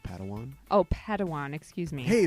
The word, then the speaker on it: padawan: reunion master yoda assigned a pad one to this bold jedi it's pronounced padawan oh padawan excuse me